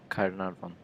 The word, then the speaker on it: Caernarfon: How do you pronounce that castle name? Caermarthen Castle. Caernarfon.